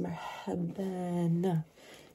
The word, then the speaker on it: مرحبًا: So you've got here مرحب, and then you've got the two fathas on top like this. It becomes مرحبًا. So you put a na sounding on the end of it.